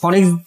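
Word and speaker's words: Phoenix: আর এটা কিন্তু উচ্চারণ হয় 2 ভাবে, কেউ ফিনিশ বলে, কেউ ফনিক্স বলে, যার যেভাবে আর কি বলতে সুবিধা হয়।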